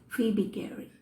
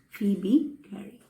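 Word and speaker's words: Phoebe Cary: gary for b gary but that o is silent so we call when we pronounce we have to pronounce it as phoebe gary okay phoebe gary now this poem is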